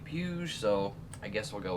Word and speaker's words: Puig: of them that's debatable according to revzilla they say puge so i guess we'll